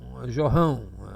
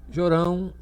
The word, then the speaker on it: Jorão: Outros chamam Jorrão ou Jeorrão. Então a gente pronuncia aqui Jorão e o outro é Jeorão, tá?